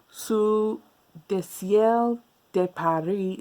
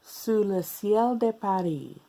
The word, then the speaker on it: Sous le ciel de Paris: so if you know su de siel de paris su le ciel de paris well i said it right once before go with that one su le ciel de paris if you've ever heard